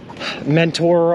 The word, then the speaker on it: Mentor: when I was in Mentor, Ohio, or Menor, Ohio, however they pronounce it. Don't pronounce the T, it's stupid. Why even put the T in there if you're not going to pronounce it?